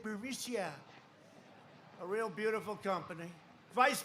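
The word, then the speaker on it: Burisma: with the burmese executives so this uh buremicia bermucia they say pronounce it bericia a real beautiful company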